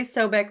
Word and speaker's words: Sobek: You gotta say Sobek like Becky, and then it works.